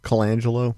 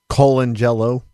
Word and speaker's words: Colangelo: Colangelo. That's not how you say it. Colangelo.